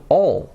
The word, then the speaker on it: all: Or, for example, para decir todo, al, no decimos al, decimos all.